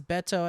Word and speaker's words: Beto: Also, Steve pronounces Beto as a Spanish speaker would, and Alana does it as an American would, and both are fine.